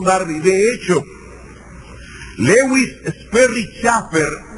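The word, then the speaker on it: Chafer: De hecho, Lewis Sperry Chaffer o Shafer, como se debe pronunciar en inglés, que es uno de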